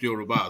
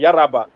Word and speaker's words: Yoruba: his mother is a Yoruba, the son of a Yoruba woman for us. But according to the answers of the plan, they call it Yaraba. The deceitful one, how they say it.